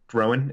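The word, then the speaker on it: Rhoam: with rogue how do you say his name Rohan King Rowan Rowan okay yeah up up but up on the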